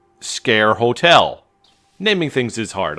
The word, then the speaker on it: Sker: while is made of scare it's pronounced scare not SCAR or skar or whatever the it's scare dude so made of scare